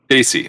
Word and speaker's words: Desi: We take that same word or the same spelling and we pronounce it Desi, and it represents Indian people. Daisy.